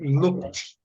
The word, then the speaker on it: looked: Agora, todos os outros, você vai dizer looked. Looked. Looked. Looked. Looked, sem acrescentar sílaba.